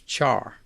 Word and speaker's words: char: values whose type is char by the way i pronounce c-h-a-r char but care is also an equally acceptable pronunciation since it's short for character and speaking of putting